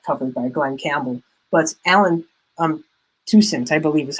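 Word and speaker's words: Allen Toussaint: But Alan Toussaint, I believe is how you pronounce it, and his lead track off of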